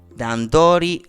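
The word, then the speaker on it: 段取り: Dandori, apparently. That's how it's pronounced. With the pitch accent, which I am so terrible at.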